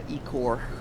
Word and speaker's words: ichor: Icor. It's like, yeah, Ecor. I might have to start pronouncing it that way, just so it doesn't sound very unfortunate if the mic cuts out.